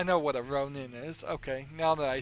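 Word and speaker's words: Rhonin: But it's it's not Rondin, it's Ronin. I know what a Ronin is.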